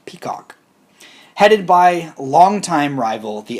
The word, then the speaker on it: PCOC: normal contracts oversight committee pcoc pronounced peacock headed by longtime rival